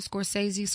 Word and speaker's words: Scorsese: Scorsese?